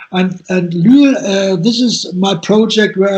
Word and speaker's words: Lüül: How you pronounce it, Lüül in German? Lüül, it's quite well. I know it's unusual because it's a U with the 2 points, and it's Lüül.